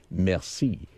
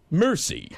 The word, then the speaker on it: merci: you and you look at it, you say merci. But when the way Brad pronounces it, it's really embarrassing. He gets it and he gets the bill and looks at it and says, mercy.